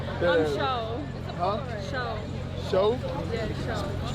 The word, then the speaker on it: Sho: Show? Yeah, show. Spell it for me. S-H-O. Show, like I Showtime?